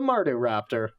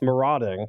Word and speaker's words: Marauding: got them are doing Raptor or as I mispronounce it quite often the Marty Raptor its marauding I know okay said them are doing Raptor